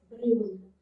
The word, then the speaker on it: brune: Now the sound is brun. Because of the vowel E, you have to pronounce this N.